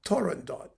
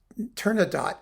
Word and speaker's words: Turandot: Is it Turandot, Turandot, with a T at the end? The best way to do it is to pretend that there's a T at the end so that people can't tell whether